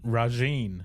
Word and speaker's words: Rajiin: Now we know how it's pronounced. Yay. Rajine.